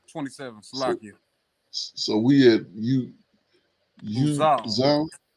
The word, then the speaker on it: Uzal: And whenever you see that AL, it's usually gonna be pronounced like with the W, like with the emphasis on the all.